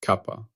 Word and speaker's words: kappa: Its symbol is the Greek letter kappa, pronounced kappa. I have previously used the simple letter K. That was an error. It is kappa.